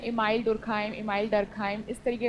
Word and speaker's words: Durkheim: तो ये जो है कट्स बोलते हैं इमाइल डुरखाइम इमाइल डरखाइम इस तरीके का नहीं है। इसका प्रोनंसिएशन है इमिल डुरखाइम इमिल इमिल डुरखाइम जल्दी आइए।